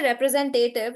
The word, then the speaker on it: representative: When you say representative, you're stressing on te.